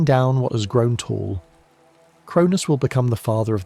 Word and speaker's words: Cronus: His name in Greek sounds like the word for time, Chronos, though they are technically different figures. But the association stuck, and so Cronus carries the weight of